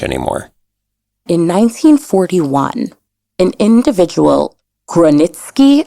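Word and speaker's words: Grojanowski: In 1941, an individual, Gronitsky, I believe it's pronounced, or it might be Groyanitsky, escapes from the Chelmno death camp and makes his way to the Warsaw Ghetto.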